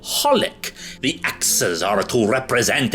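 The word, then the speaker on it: xxxHOLiC: The title is misleading because the thing is that the 3 X's are not actually pronounced when you say the name. It's simply called holic.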